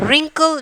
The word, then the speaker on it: wrinkle: And wrinkle, W silent letters.